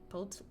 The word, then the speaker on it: poultice: I shall make for you poultice?